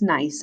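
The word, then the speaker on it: gneiss: four metamorphic rocks um you actually pronounce this nice i know that's weird you know how like that starts with the g it's kind of the same thing um nice and slate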